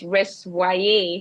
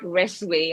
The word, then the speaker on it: RES: um first of all it's res not rway I know a lot of people have that um pronoun they pronounce it differently but Is Res which is the acronym for the recycling scheme for women and Youth Empowerment um over time what